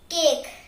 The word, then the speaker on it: cake: For example, the word cake has a A sound and the A is followed by a consonant K and the E. So it gives a long A sound and the E is silent.